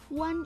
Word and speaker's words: one: Tetapi O ini ternyata dibacanya one. One alias huruf pertamanya adalah W.